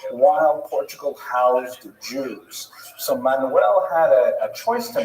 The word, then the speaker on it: Manuel: But luckily for today, the only Portuguese king we're going to talk about is Manuel, which is pronounced Frank. No, Manuel.